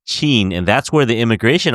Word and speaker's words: Chin: But they said that if you say it in Toisanese, it's pronounced Chin, Chin.